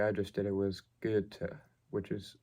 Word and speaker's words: Goethe: And the way I just did it was Goethe, which is, it may sound almost like there's an R there, but it's this strange German pronunciation of the OE.